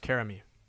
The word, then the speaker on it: Karami: Oh, it's pronounced Karami. Thank you. That's important. Yeah, I was doing like a Japanese pronunciation.